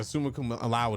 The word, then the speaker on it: summa cum laude: I graduated sumo cum laude. Yeah. Is that how you say it? Yeah, summa cum laude is exactly how you say it.